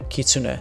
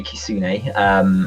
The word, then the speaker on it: kitsune: I'm pronouncing this right the kitsune you turn a key - yeah kitsune I always say Cassini my Japanese is self-taught